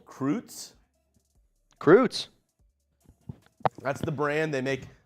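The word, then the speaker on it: Kruetz: Croots. That's the brand. They make pancake, other mixes as well. How do you spell that? Is it with a K or C? K. Croots. K-R-U-E-T-Z. It's German.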